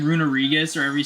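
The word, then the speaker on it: Runerigus: And then they went and removed one of the G's for Runarigus. So it's like, it's not Runagrigus. It's Runarigus.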